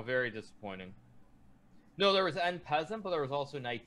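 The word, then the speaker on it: en passant: you guys it's it's n peasant you're saying on hazard no it's n peasant you guys i'm sorry eric class it's not pronounced like that he car yes it is it's and peasant you guys and peasant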